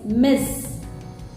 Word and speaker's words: Ms.: Once again, I'm pronouncing it's Miss. Miss refers to this title